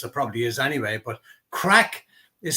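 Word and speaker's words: craic: gossip or what's the crack what's happening did you have was it was a lot of crack was a lots of fun so it's spelled c r a i c um just to to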